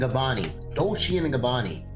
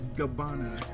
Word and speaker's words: Gabbana: Please say it right. Gabbani? It is not Gabbani. Who's Gabbani? It is not Gabbani, sir. How is not Gabbani? How is not Gabbani? Come on. It's Gabbana.